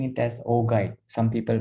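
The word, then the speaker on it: augite: we'll we'll come to that later okay so oh guide or ogi sometimes it's pronounced as ojit but i prefer pronouncing it as ogi some people pronounce oh guide some people pronounce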